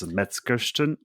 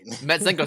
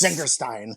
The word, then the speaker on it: Metzengerstein: Metzgersten. Metzengerstein. Thank you. Yeah. Yes. Metzengerstein.